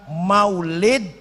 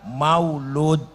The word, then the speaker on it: maulid: Maulid itu bisa diucapkan maulid, bisa diucapkan maulud.